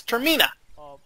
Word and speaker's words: Termina: save it from termina so that's how you pronounce it it's not Terina it's termina hour of their life coupled with challenging Dungeons